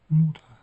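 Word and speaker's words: Mutter: M em muta anne demek. Son var bu. Ondan dolayı a'ya yuvarlıyoruz. Muta diyoruz.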